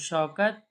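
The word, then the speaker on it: شوکت: 'शीन' में 'श' का उच्चारण ज़ोरदार होता है। और 'वाह', 'शौ' यह हो जाएगा, इसलिए शौकत।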